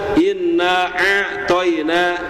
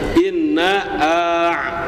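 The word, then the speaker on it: إِنَّا أَعْطَيْنَاكَ: Maka tidak boleh kita membaca inna aina ya, Pak ya. Inna aina enggak boleh ya. Setiap huruf harus diberikan haknya. Maka berikan hak hamzah di sana. Inna a inna a ya. Inna a' inna a. Ya, jadi enggak boleh inna aina enggak boleh ya harus inna inna.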